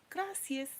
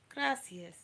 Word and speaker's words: gracias: Gracias. Gracias. Please do not say gracias. Gracias. Try to make that tongue hit the roof of your mouth.